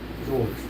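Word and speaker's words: Jorge: George. Huh? J O R G E. George. Don't It ain't spelled right. My name is George, but it's not a big deal, man.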